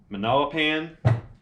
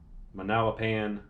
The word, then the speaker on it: Manalapan: this is out of a manila pan sorry if i mentioned it wrong or said it wrong new jersey manalapan new jersey and they seem to